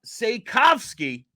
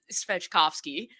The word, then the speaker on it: Svejkovsky: It's Yogi, and you actually say his name Svejkovsky. See, Which that's is what I thought, and Charlie told me it's Svejkovsky. it is absolutely not.